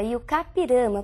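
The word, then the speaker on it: I-Juca-Pirama: texto e o kirama e a pronúncia é realmente essa y o kirama porque é um termo de origem indígena Nós escrevemos ijucapirama Mas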